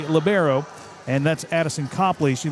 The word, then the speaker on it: libero: Addison CPPley is the libero or you can pronounce it Libero. That's the um European pronunciation, Libero. uh when they uh initially brought it in to play in 1998. Uh but uh here we say Labbero and that's Addison CPPley.